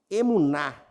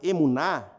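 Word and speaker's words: emunah: A palavra fé, no hebraico, se chama emuná. Eu não sei se a pronúncia é essa, mas estou lendo aqui, emuná, E-M-U-N-A-H.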